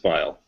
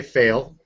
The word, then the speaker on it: Pfeil: So the P is silent. Yes. Perfect. It's actually pronounced file. File. Okay. Because I've been hearing everybody say fail. Yeah, that's a German pronunciation of it.